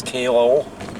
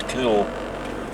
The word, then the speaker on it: Caol: Some people that don't know the area pronounce it as CAOL, but it is actually pronounced CAOL, although the spelling C-A-O-L would suggest otherwise.